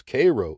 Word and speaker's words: Cairo: Egyptian cities like Thebes Illinois Karnak Illinois Cairo pronounced by the locals Cairo Illinois all located in Southern Illinois also known